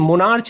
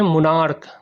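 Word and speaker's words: monarch: CH का उच्चारण अगर क हो तो, जैसे यहाँ पर देखिए मोनार्च नहीं होता, इसको क्या कहते हैं, मोनार्क, क होता है, तो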